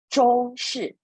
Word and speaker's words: 中式: And then, of course, we have Chinese style, 中式, ZH pronounced as 知 on 中式. And how? SH pronounced as 诗.